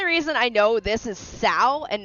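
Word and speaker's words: Cao: Warriors 3 and four pronounce it as cowcow but it's not. But it's Sao.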